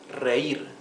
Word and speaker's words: reír: This is to laugh, reír. Reír has two syllables, re-ir.